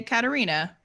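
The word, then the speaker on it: Katherina: question are we pronouncing Caterina I would say no th I would say Caterina with a hard T tatata but also most people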